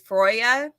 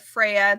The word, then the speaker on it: Freya: go there you go I think the actual way to say her name is froya sorry I'm not a viking I said Freya that was an accident Freya here she is